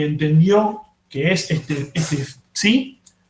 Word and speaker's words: psi: entendió que es este psi, que justo se pronuncia parecido a phi, ¿no? Pero es psi.